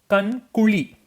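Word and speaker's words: கண் குழி: is also called as kan kuli. Kan kuli. See, this ZH is called la. LA. But when you're gonna pronounce ra, your tongue should touch the inner part of the hard palate as ra.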